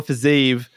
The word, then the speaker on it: Fiziev: We have Justin Gaethje, Rafael Fiziev.